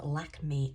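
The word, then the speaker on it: Lakmé: Now that's from the Parisian opera called Lack Me. I think that's how you pronounce it. L A K M E.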